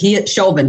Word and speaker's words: Chauvin: Chauvin, like chauvinistic.